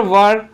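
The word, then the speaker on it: were: देयर वर, इसका जो pronunciation होता है वह होता है वर। कई लोग इसको वेयर भी पढ़ते हैं, जो कि गलत होता है।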